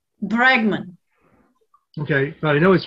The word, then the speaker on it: Bregman: would pronounce his name i think his name is rutger bergman bregman okay but i know